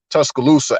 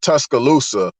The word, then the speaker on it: Tuscaloosa: Louis, so you know we kind of we pronounce names a little off sometimes, but nevertheless, if you break down the word Tuscaloosa and the Choctaw word is Tuska Lusa.